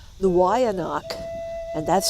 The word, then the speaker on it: Weyanoke: named for Native American Indian tribes we say Wayne Oaks but the way no people pronounce it a little differently they lived in Virginia a long time ago this is their story the Y anak and that's how you pronounce it not way